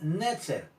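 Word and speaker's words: נצר: en el original hebreo la palabra netzer con el ser dependiendo la pronunciación pero es netzer este menciona la lectura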